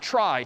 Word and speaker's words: trie: a try so a try sort of a weird name and pronunciation short for retrieval pronounced try typically a try is